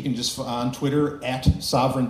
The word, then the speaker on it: Sovryn: just on Twitter at Sovereign Tech it's spelled like my last name s oov r y n and then just Tech um or you can go to z.